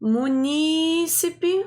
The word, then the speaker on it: munícipe: vamos ver Êxodo proparoxítona munícipe proparoxítona é o jeito certo de falar então letra beleza vamos